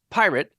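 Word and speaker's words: PYRT: initiative called py RT all capital letters and is supposed to be pronounced pirate because Billy is awful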